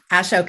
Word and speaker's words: Ashok: Do I pronounce them correctly? That's her grandparents. Ashok and Morag, yes.